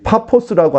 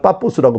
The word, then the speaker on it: 파포스: 그리고 이 한 60km 정도 횡단을 하면은 이 파포스라고 하는데 우리나라 성경에는 그냥 프 발음을 갖다가 비읍 발음으로 번역을 하는 바람에 파포스가 지금 여기서는 빠포스라고 부르긴 해요. 빠포스라고 하는 이 마을이 바보라고 하는 말로 이상하게 번역이 돼버렸는데 어떤 이런 파포스라고 이름을 알아두셨으면 좋겠어요.